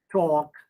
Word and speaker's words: talk: you know you see l sound is silent in talk almond half we don't say talk or almond or half so again you know